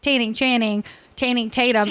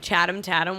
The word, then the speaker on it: Channing Tatum: But I like to say Channing Tatum. It's like Tatum. I tried so hard to get him to promote, but he's got people. Totally. He got to get paid. Cameron called him Chatham Tatum one time, and it stuck with me.